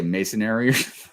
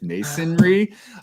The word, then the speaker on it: masonry: next one up is uh M I always pronounce this wrong I know but I always want to say masonary but it's masonry um but yes this was this was uh